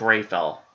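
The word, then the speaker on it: Rapheal: that hard and it it's not really even spelled like Rafael it's got kind of a weird spelling um I believe if I'm correct but it's ray fell and I probably that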